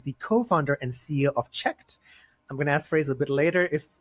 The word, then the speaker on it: cheqd: talk about yourself and tell me if I pronounced checked correctly firstly you did and thanks for having us and thanks for having me so yep you're pronouncing it correctly when we were creating the name a few people came back with it is it check D and like no but it was basically